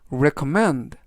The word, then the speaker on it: recommend: 뜻이 되겠습니다 이번 단어는 recommend recommend recommend라고 발음하시면 되겠구요 이때 강세는 뒷부분에 있는 알파벳 e의 강세가 있습니다 그래서 recommend라고 발음하시면 좋겠구요 품사는 동사 뜻은 추천하다라는